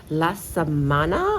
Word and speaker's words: La Samanna: I'm so happy that you guys are joining us today.Today we are at the beautiful La Samanna, I think thats how you pronounce it?